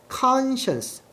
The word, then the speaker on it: conscience: conscience conscience conscience 이게 바로 양심이라는 단어고요. Science스라고 읽으시면 안 돼요.과 science스 아니 양심을 꼈지만 there was no other way out.